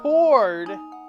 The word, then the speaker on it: chord: I know chord has a silent H.